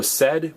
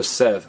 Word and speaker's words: sed: sed or singer said it could be pronounced tengo sed with a D or tengo sed with a th now evany say seed